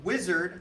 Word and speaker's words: Uizard: that don't know uh wizard actually written out u-i-z-a-r-g did i spell that right yes amazing awesome so uizard um is a design